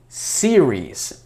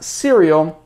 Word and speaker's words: series: Но, да, сериал, мы не говорим сериал, мы говорим series. TV series, Netflix series и так далее. Series, not cereal, series.